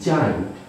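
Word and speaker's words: giant: एक एग्जाम्पल जैसे GRANT, जाइंट, इसको गाइंट नहीं पढ़ेंगे, इसको जाइंट पढ़ेंगे। जी के बाद आई आने पर हम इसको हमेशा जाके उच्चारण में लेंगे, इसको भी आप अच्छे से ध्यान रखें।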